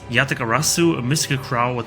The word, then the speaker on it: Yatagarasu: Pronounced Yatagarasu, a mystical crow with 3 legs and 3